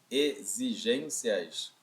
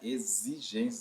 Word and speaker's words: exigências: Exigências, é como se fosse um Z bem aqui, ó. É como se fosse um Z. Exigências. Se escreve com X, mas se pronuncia como se fosse Z.